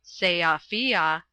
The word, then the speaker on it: Sofia: Then the interesting man, having got the table where he wanted it, had said, "I remember when I was last in Sofia, by the way it is pronounced Seafia, talking with Radovich.